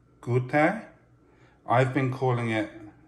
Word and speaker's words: Goethe: my googles i've been told that it is pronounced good there i've been calling it joath or giov in my head the entire time i've had